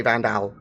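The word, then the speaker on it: Vanduul: got to use so I like to think of it as Vandal yeah but people say banged out almost yeah it's gonna be shortened to vandal like like a you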